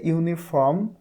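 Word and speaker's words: uniform: এই যে ইউনিফর্ম, এটার উচ্চারণ কি দিয়ে শুরু হয়েছে?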